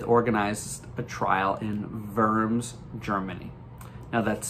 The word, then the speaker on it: Worms: organized a trial in verms germany now that's spelled w-o-r-m-s which in english looks like worms but in german it's pronounced verms so this trial is